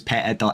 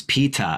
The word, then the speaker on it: Peta: said her name was Peta N.C her name is PETA as in like the bread uh Peta p.n.